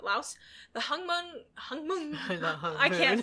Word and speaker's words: Laos: That's how you pronounce it, Laos.